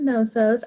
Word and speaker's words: Knossos: The K is silent. It's Palace of Knossos.